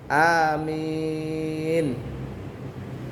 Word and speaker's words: amin: setelah selesai Fatihah ya Nah cara bacanya a-nya panjang tapi jangan terlalu panjang minnya yang panjang Amin begitu caranya waladin Amin nah begitu amin jangan Amin nya yang panjang bangan yang panjang banget Min a-nya panjang tapi tidak terlalu panjang ada juga karena terpengaruh